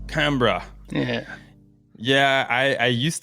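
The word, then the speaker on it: Canberra: I got to say we probably say Cambra Cambra yeah yeah I I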